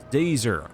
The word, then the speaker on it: Dazer: on purpose it's pretty it's professor dazer like laser with a z how hard is that